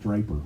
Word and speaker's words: Draper: But I got stuck with Draper, which is pretty cool too. Dar likes it because it rhymes with paper.